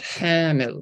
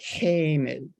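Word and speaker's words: حامل: In a very prescriptive classical sense, this should be pronounced hamil with a long medial a sound. But in some spoken varieties of Arabic, the long a changes to a, and you get a pronunciation that's more like hamil.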